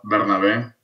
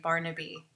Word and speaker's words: Bernabe: It's Bernabe. Yeah. I had my brother's best friend that was his name, but he would pronounce it Barnaby. Do some people pronounce it that way? No, they do. They do it Burnaby.